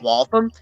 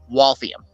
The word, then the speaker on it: Waltham: in case you're curious It's not Waltham it's Waltham you're adding an eye in there that doesn't exist